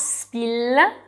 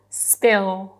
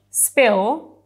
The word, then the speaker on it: spill: What you do is you put your tongue on the bottom of your mouth... Okay, "Spill" Yeah, you're right! Not "Spill" - "Spill" - Yeah, yeah In English, "Spill", the tongue stays on